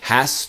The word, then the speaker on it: has: possession or a noun the S sounds like a z so it's really he has time if you imagine